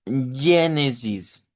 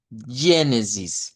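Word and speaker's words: Gênesis: Bueno, en primer lugar, ya lo decíamos la semana pasada, el libro lo debemos pronunciar como eh Génesis. Génesis con ese sonido de esa G vibrante como la G del inglés.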